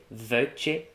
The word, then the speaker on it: vuech: Gabrièu: /vyitãnta/, yes, because eight it's- seven, "vuech", nine Davide: "Vuech" Elena: What?